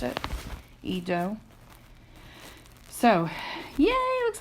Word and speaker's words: Edo: do I think it was it was we pronounced it Edo so yeah it looks like we have some